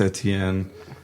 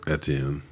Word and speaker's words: Etienne: Sorry, Travis Etienne. Wait, how do you say? What's the pronunciation of that, Daniel? Etienne. Etienne.